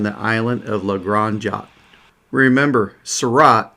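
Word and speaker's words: Seurat: island of legranja remember sarat rhymes with dot when you're thinking of pointillism okay i'm going to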